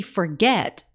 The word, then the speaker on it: forget: Do we say forget or do we say forget? To me, forget is the one that sounds right.